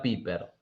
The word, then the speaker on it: Pieper: Se escribe Pieper, se Pieper. pronuncia Piper.